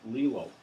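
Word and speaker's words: glial: they're called allele cells these are spelled g-l-i-a-l pronounced lilo allele cells and these are specialized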